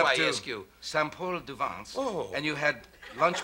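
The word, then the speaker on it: Saint-Paul-de-Vence: No, it's called Saint-Paul-du-Vence. Oh, what of course, did you say? You know, I said Paul Saint-Gervain. And Paul Saint-Gervain would be the wrong town.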